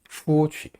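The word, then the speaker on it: 出去: 때는라라 나가다 뭐라고 할까요 나가다 할 때는 추취 추라고 발음합니다 취 살짝만 붙이면 됩니다 나옵니다라 나갑니다 자 그다음에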